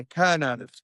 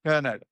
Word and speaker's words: Kernow: The is it Kerno classic or how do you pronounce it correctly? Yeah, Kerno. Kerno.